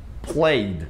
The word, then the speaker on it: played: Igual passado de play, played, não é played, played, não, played. Passado de perguntar, que é ask, fica asked.